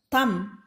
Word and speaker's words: thumb: For example, thumb. It is not thumb, it is thumb. The burr sound of the letter B is silent.